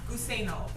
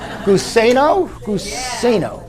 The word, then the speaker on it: Guseno: Guseno. God bless you. You know, Guseno.